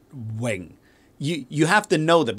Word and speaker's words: Ving: And so you have to know that V-I-N-G, you got to pronounce that Wing.